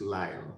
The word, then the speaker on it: Lisle: So in case you can't, figure out how Lisle is pronounced, it's Lyle, like Lyle.